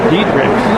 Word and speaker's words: Diederichs: We have Hilda Garcia and Brenda Dietrix. Did I pronounce that right?